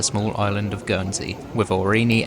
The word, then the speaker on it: Aurigny: island of gy with orini Air Services the g is silent security was pretty quiet